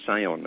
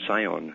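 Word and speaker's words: scion: at uh you become a cion an s c o n pronounce cion it's no coincidence of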